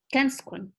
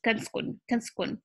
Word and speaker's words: kanskun: Can skun. Some people don't even pronounce put the vowel over here and it's become like a little shorter, which is kanskun, or kanskun.